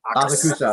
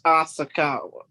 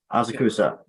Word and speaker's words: Asakusa: He also has some name recognition coming from breaking down, and he trains in Triforce I can't pronounce it. Asakusa. Triforce Asakawa. Asakusa.